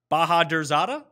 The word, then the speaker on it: Bahadurzada: I was like, versus Sair Bahadurzada. Boom, nailed it. It actually is pronounced just like it's spelled.